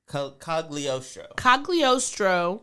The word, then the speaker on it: Cagliostro: How do you pronounce his name? Cagliostro.